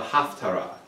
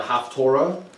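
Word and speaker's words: haftarah: of what's called a haftara it's often called a haftorah as if it was half the torah that's the ashkenazi pronunciation but it means the additional piece they have theaters to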